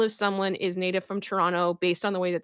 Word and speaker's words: Toronto: someone is native from Toronto based on the way that they say Toronto because if they're from Toronto they do not pronounce the second t for the most part um but if you